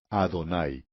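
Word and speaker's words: Adonai: exacta es Oh Señor y se dice adonay creemos que esto es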